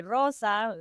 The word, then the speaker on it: Rosa: I always say Rosa with the you know the rolling of the R and not anyone understanding what I meant.